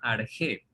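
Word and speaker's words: ἀρχή: Y ese origen, jóvenes, del universo, en griego se llama arjé. O bueno, se lo puede transliterar a nuestra simbología del alfabeto español como arché, pero se pronuncia arjé.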